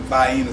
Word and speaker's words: Vienna: sausage i pronounced the vaena saucy that's how we pronounce it back in south carolina when i was growing